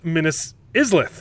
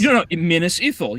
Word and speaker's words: Minas Ithil: Is that what it's called? Minas Islith? I'm probably saying it wrong. Minas Lilith? Let me go to... Okay, let's Google Minas Morgul first. Minas Morgul, but it's not because it turns into Minas Morgul. It's Minas. Minas Ithil. Yeah, Minas Ithil. Okay, I was saying it wrong.